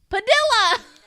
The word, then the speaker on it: Padilla: That's like armadillo.